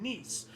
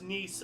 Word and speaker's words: Nice: annexation of Savoy and Nice. It's pronounced Nice, I believe, like the female version of nephew. So not nice, but Nice.